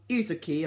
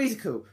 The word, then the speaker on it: Izuku: main male character called Izuki. I think I say his name. Izuku, how you say his name. It's called Izuku.